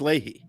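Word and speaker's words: Lachey: Nick Ley from 98 le le it's Ley the one married to Jessica Simpson or it's spelled l a he y That's Ley anyway I'm sorry to keep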